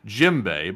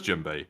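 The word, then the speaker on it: djembe: those footsteps as well is said FYI it's pronounced jimbe but spelled jimbe uh and yes it is jimbe I I do know what that is we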